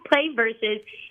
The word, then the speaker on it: PlayVS: what is it sure so it's pronounced play versus and we consider Esports